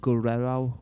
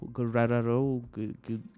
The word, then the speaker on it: Guerrero: shout out to oven Guerero Guerero Guerero like like Eddie Guerrero is am I pronouncing